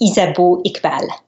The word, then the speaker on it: Isabeau Iqbal: gets to know you and has the proper pronunciation. You did a great job. So it's Isabeau Iqbal.